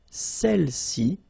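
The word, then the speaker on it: celles: all right feminine plural celi okay don't pronounce the final s celi s all right so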